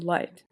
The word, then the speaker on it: light: gh in Arabic words pronounced as for example my family's name while in English words is always silent okay but it has an importance to lengthen the pronunciation for example light to know it yourself